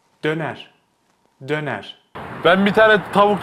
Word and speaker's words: döner: So they say Döner instead of döner. So don't stretch it out, okay? Just keep it tight. Döner.